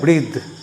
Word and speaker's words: breathe: अगर इसमें आपने ई जोड़ दिया तो इसका जो उच्चारण है बदल जाएगा। इसका उच्चारण हो जाएगा ब्रीद। अब यहाँ पे था नहीं बोलोगे, आपको बोलना पड़ेगा द।